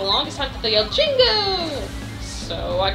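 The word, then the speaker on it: Jinjo: call them jingos and I knew they were spelled gingo but I always pronounce them Jingo now hear me out on this when they when you collect one and they all fly away they yell Jingo but it sounded to me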